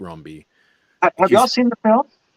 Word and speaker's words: Rombi: Philippe romby okay well I was gonna say rombi so you got Rumbi yeah it could be more French than that but yeah it's Philippe Rumbi have y'all seen the